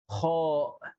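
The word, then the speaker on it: خاء: So my personal tips is that this is like a scratching sound.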